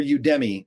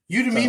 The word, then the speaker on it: Udemy: They pronounce it both ways. Udemy makes sense because the knowledge is coming from Udemy. Udemy. I think that's the original way. But they said you can also call it Udemy, like whatever gets you